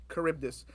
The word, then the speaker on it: Charybdis: Krabs, Black Faith, Quaker, UBC, and how do you pronounce his name again? Charybdis. Charybdis.